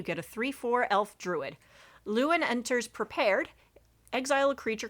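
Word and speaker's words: Lluwen: But okay, and I'm sure that they expect you to pronounce their name Lewin, exchange student. However, they have the iconic double L that you see most often in Welsh. And in Welsh, you would pronounce a double L ll. So it would be Llywelyn. Or Llywyn. That's what I mean to say.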